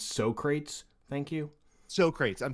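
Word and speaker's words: Socrates: yeah i do have to uh correct your pronunciation of something uh it's so crates thank you so crates i'm sorry yes so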